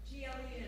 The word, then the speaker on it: Timberglen: Spell it. G-L-E-N, Timberglen.